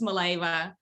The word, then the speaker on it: Mileva: what i thought really my last name is pronounced maleva and yeah i i